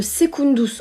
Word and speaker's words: secundus: Ça vient de secundus en latin. Secundus qui s'écrit avec un C qui se prononce K.